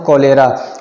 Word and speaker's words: cholerae: तो कोलेरा होता है विब्रियो कोलेरा की वजह से, या इसको कोलेरे भी बोलते हैं। कोलेरा, आर इसका स्पेलिंग है CHOLERAE, इसलिए इसको कोलेरा और कोलेरे दोनों बोलते हैं।